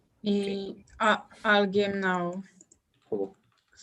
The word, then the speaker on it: alguém: I want to think of a word where the U is pronounced. Ensanguentado? Yes. Thank you. Well, let me not write this here. So it's okay. Alguém now.